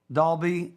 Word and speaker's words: Dahlby: when we return we'll be back with dawn dalby cfp of releve financial group did i say